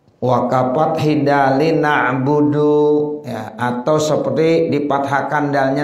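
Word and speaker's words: نَعْبُدُ: na'budu, kita bacanya iyyaka na'buda. Salah enggak tuh? Salah. Ya, na'budu dibaca na'buda walaupun tidak merusak artinya. Iyyaka na'budu, iyyaka na'buda kan enggak merusak tuh artinya.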